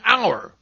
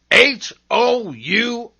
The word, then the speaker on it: hour: At the beginning of some words, H is seen but not heard, as in hour. H-O-U-R, hour.